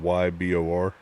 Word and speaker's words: Ybor: See, like, this is a place in Ybor City. From what I'm seeing, I didn't realize there were this many cigar shops and cigar places in Ybor. And yes, that's how it's pronounced. It's spelled Y-B-O-R, Ybor.